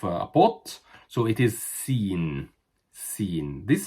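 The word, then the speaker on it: سين: The letter afterwards is sin. And sin is exactly the same as in pronunciation as the S in English. Sin, like S.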